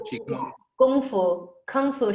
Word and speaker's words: Kung Fu: Kung Fu should be pronounced in Mandarin, Kung Fu.